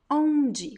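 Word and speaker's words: onde: ja jin next word omg which means where you see that i don't pronounce m or n it's just an o sound that comes through your nose next word same same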